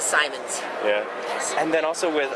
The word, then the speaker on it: Simons: Most people call him Simmons, but he is Simons.